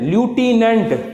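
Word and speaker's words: lieutenant: तो अगली स्पेलिंग थी बेटा लाइटेनेंट लूटिनेंट जिसे हम लेफ्टिनेंट भी कहते हैं।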